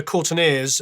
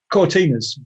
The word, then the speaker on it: Cortinas: the the court uh the the courtneys uh is that how you pronounce it cortinas yeah cortinas yeah what did i say